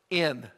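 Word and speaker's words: ἐν: the word it's spelled e in and it's pronounced in and let me tell you what it means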